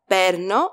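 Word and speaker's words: παίρνω: to take to get so pay attention here to the spelling perno with alpha y not Epsilon but Alpha Yota and the accent on the second syllable from the last perno you'll see why I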